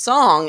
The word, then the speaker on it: Sang: Bowers and his mentor sang, pronounced song in the audiobook.